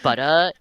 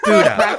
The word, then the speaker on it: Buddha: It's butter. It's butter. No, it's Buddha. It's Buddha.